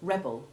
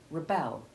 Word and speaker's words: rebel: changes to short e1 similarly a change of stress and consequent change of pronunciation distinguishes the noun rebel which has short e1 followed by short e2 from the verb rebel in which the second syllable now stressed changes from short e2 to short e1 while the first changes to short e3 which we shall practice